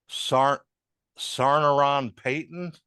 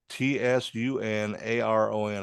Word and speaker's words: Tsunaron: Chuck Campbell as Sarnaron Payton. Sarnaron Payton. Yeah, it's Tsunaron. I guess the T is silent.